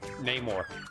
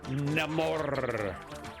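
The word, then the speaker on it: Namor: shame because I was stok for neyar no it's Nam more it's nam I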